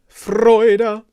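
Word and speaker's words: Freude: so it's i suppose if i was to spell it in english you the f-r-o-i-d-e-r maybe the main thing is the vowel is an oi not too kind of oi kind of from east london but uh freud nice round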